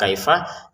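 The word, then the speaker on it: كَيْفَ: Kalau mau dilanjutkan dengan yang setelahnya di sini ada kata kaifah ya. Ini kita baca dua harakat saja. Fil arhami kaifa yasya. Nah itu ya kaifanya pendek ya. Jangan dibaca kaifa yasya.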